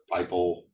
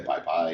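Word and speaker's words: PyPI: right on this right at the top the piple or some people say piip pie it's always been a bad font it's supposed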